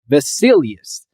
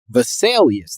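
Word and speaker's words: Vesalius: his name was Andreas vasilius I think I did pretty good visalius I think is probably more the correct pronunciation but Andreas vaselius considered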